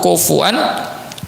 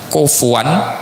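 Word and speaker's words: كفوا: yulad walam yakun lahu kufuwan ahad. Nah, ini ada yang membacanya kufuan ya dan ini yang paling umum kufuwan ahad. Ada yang membacanya kufan ahad. Nah, ini nanti di bacaan qiraat Al-Qur'an.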